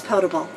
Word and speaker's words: potable: going to correct them I just think that there is different ways to say it but the correct way in fact Zephyr is potable thank you for telling